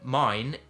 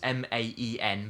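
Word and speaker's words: Maen: the price range now mine which I call it mine it's m a n but it's actually pronounced man apparently it is a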